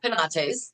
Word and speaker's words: Penates: Am I pronouncing it the right way? Yes, Okay. that's close enough. It's Penates. Yes.